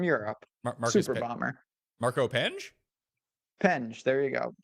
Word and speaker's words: Penge: Penge. There you go. I like to add the E. Penji? Penji. Well, it's like I believe it's pronounced Penge, but that's me.